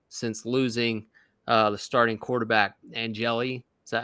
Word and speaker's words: Angeli: Syracuse has averaged 13 points, Tony, since losing the starting quarterback, Angeli.